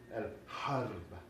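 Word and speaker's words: الحرب: And in Arabic, we have that hard H again, el-harb, el-harb. Now there's a small A here, there's a short A here as well, but it gets eaten up by the rolling of the R.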